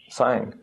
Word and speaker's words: sign: it's at the end g is silent so it just sounds like sign in this case or